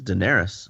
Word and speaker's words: Daenerys: It's Daenerys.